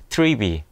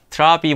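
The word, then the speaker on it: Trivy: 쿠버벤치, 파르코, 트리비. 처음에 트리비는 제가 트라비 뭐 이렇게 읽었었는데 홈페이지에 가서 읽어보니까 트리비, 트리거의 트리와 V의 V로 읽으라고 얘기되더라고요. 그래서 트리비라고 읽도록 합니다.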